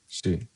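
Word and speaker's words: づ: Du pronounced zu.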